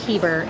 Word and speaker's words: Heber: say your last name it's heber it's like bieber but with an h and not a crime